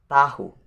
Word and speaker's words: tahu: And the next, which is number 7, is the word tahu. This is so easy. There are 2 syllables in this word, which is ta and hu. Tahu.